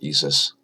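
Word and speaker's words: ISʘIS: it's doing its measurement and lastly we have esis which actually has the the the Greek letter symbol for the Sun in its acronym I don't know why it's pronounced esis it makes no sense to me that wants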